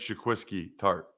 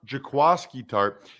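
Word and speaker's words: Jaquiski Tartt: and there's no way you would know this it's jaquasky tart i mean if you spell it and asked a hundred people they would sit 99 would say it's jaquisky tart but evidently it's pronounced jakwaski tarp 64 games he started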